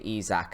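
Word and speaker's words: Isak: confused with life because I naturally assumed when you've got an eye at the start of your name it would be pronounced I and not e so if it's e why not write it with an E anyway little ran aside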